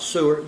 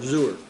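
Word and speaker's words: זור: The Hebrew word is the word zur, if you pronounce it, not sewer, zur with a Z-O-O-R, zur.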